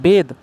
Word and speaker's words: bathe: क्या अंतर है, देखो BATH इसको पढ़ते हैं बाथ, ये होता है एडजेक्टिव, ये होता है नाउन। BATHE इसको पढ़ते हैं बेद, इसका मतलब होता है वर्ब। क्लियर है, दोनों की प्रोनाउंसिएशन अलग है, दोनों के फॉर्म अलग हैं।